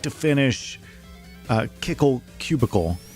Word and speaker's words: Kickle Cubicle: finish uh kickle cubicle which apparently is pronounced according to hey sural uh kickle cubicle but I think it's spelled wrong to be pronounced that way I don't know we'll see I I have nothing to base that on other than hearsay you agree on the pronunciation you agree with kickle cubicle from what you've heard I I hadn't heard it called kickle cubicle until surreal that was cool sounds like icicle well maybe I'm just